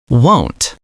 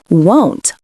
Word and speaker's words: won't: It sounds like phone or home. Won't. It is different from want like I want a pizza. Listen closely. Want short sound. Won't long o sound.